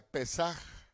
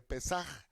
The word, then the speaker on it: Pesaj: Pero les quería decir, mire, Pascua se deriva de un término hebreo que se pronuncia Pesaj. Se lo repito, Pascua es lo mismo que Pesaj.